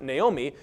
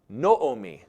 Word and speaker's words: Naomi: Naomi whose name actually would not have been pronounced Naomi would have been pronounced noomi it's actually the same